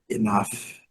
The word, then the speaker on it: enough: Enough, enough. GH com som de F.